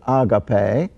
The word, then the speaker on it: agape: wasn't used a lot it's the word agape or sometimes people pronounce it agape agape which means love but